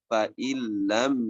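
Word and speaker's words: فَإِن لَّمْ: Fa'illam, nah, tulisannya fa'in lam, tapi dibacanya fa'illam yusibha, langsung ke lam.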